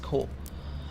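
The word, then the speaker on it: 口: It's pronounced ko. If I remember correctly, it's pronounced ko.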